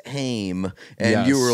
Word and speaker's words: Haim: And I say, I swear to God, if we're late for Heim. Yes, and the person behind us was like, actually, it's pronounced Haim.